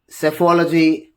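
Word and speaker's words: psephology: speak about silent P, the letter P is not pronounced at the end, the beginning of many words using the combination of PS, PT and PN. So with the combination of the letters S, T and N, whenever you just speak about, then P becomes the silent letter, like Psalm, Cephology, and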